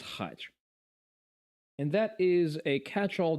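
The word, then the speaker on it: хач: So, the Russian language has a word that is pronounced as khach, and that is a catch-all derogatory term for ethnicities that originate in the Caucasus Mountains.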